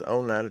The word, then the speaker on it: Oneida: Or some people call it Oneida. Some people call it Oneida. And others, well, they just basically abstain from trying to pronounce it at all. But it is Oneida, Tennessee.